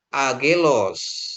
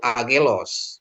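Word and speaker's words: άγγελος: Terus untuk gamma dengan gamma ya. Tapi memang sering dibuat dia jadi eng gitu ya. eng tapi enggak masalah ya. To aguri ya, to vegari to agelos ya atau angelos juga. Oke, enggak apa-apa. Tapi kalau dari sananya aslinya itu angelos gitu ya.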